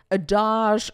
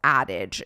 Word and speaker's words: adage: So, there's been this longstanding theory assumption adage. That's that's not how you pronounce that word. Oh my god. It's addage, isn't it?